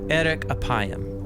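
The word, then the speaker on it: ארך אפים: In Hebrew, the phrase slow to anger is pronounced eric apayam or literally long of nose.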